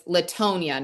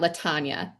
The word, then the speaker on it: Latonia: So, it's Latonia, not Latana. Yep. Laton. It rhymes with phone.